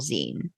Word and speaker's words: zine: Because magazine, so it's like the end of it.